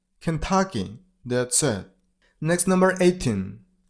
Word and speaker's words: Kentucky: Kansas next number 17 Kentucky the stress on the middle syllable I mean on t level Kentucky that's it next number